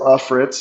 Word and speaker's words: Ellefritz: So my name is Ellritz. So it's L uh even though it's spelled E L L E, it's Laf Fritz.